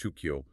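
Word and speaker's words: 宗教: Why did Buddhism become shukyu? That's pronounced shukio, the modern Japanese word for religion, but rice cultivation did not.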